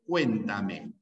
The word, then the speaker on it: cuéntame: En la palabra cuéntame hay una sílaba tónica, cuen, lo voy a poner con mayúscula, cuen, y las demás son átonas, ¿no?